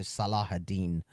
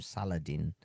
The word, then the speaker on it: Salahuddin: By the way, it's the Salahuddin. I don't know why why he keeps. This is an Egyptian man. Why is he pronouncing his name Saladin? It sounds like some kind of a salad, like a Caesar salad.